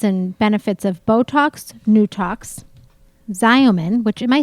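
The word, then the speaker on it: Xeomin: a little difference and benefits of Botox, Nutox, Xyomin, which, am I saying this right? Zeman. Zeman. I don't. Mental block. Mental. It's like, well, because it's spelled with an X and it's a Z, but whatever.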